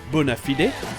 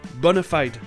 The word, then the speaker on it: bona fide: perturbé pendant un temps, parce que j'entendais deux prononciations. Celle de la chanson d'Aladin, bona fide, et une autre plus anglaise, bona fide.